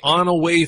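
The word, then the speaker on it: Onaway: Yeah, it's called the On-Away photo.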